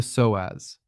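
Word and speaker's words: psoas: It is called the soaz, pronounced s oaz.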